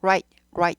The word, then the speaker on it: right: Right, L과 구분하셔야 돼요. Right, right. Right, right, right, right. Right, right, right. 얘는 좀 세죠 발음이요. 얘는 right, right. 굴러가죠. R이 있으면 굴러가죠. R 없을 때 굴리시면 안 되고요. R이 있어야지만 굴러갑니다. Right, right 하고 굴러가요.